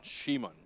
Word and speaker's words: Simon: Shimon.